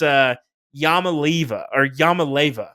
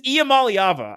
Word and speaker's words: Iamaleava: I believe Nico is Yamaleva. It is Iamaleava. I counted. There's 6 syllables.